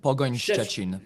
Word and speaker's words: Pogoń Szczecin: How do you pronounce that? Szczecin, Pogoń Szczecin.